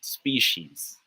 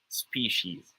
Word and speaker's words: species: guy it's pronounced as species species say with me it's pronounced as species not species okay all right good